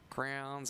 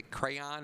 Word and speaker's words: crayon: a kid that's cly it's actually pronounced a crayon and not Crown so I always called